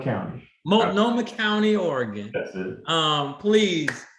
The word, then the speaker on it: Multnomah: Multnomah County. Multnomah County, Oregon.